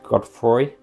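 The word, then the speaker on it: Godefroy: And then at that point, I might have it that the Dark Lord, Lord Wilfred Godfroy, that's how you pronounce it, he closes the Mist Borders, and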